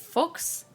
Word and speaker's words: Fuchs: If they are German, that's how you pronounce it. You pronounce it as Fuchs.